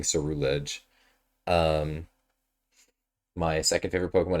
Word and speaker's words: Ceruledge: My favorite Pokemon is Ceruledge. And I know I say it wrong. I say it wrong because it rolls off the tongue better. I don't like saying Cerulege.